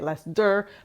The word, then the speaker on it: Leicester: Lester cheese Lester cheese looks like it's Lester but it's ler cheese that's how you say it if you're English you say it like it's open ending but I say less dur because I'm uncultured this morning when I